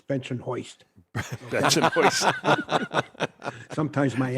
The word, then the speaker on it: Bensonhurst: Although in Brooklyn, it's not pronounced Bensonhurst; it's Bensonhoist.